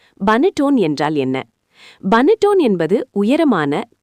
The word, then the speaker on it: Panettone: பனட்டோன் உச்சரிப்பு பா நெட் டோனே என்பது இத்தாலிய இனிப்பு ரொட்டி வகையாகும்.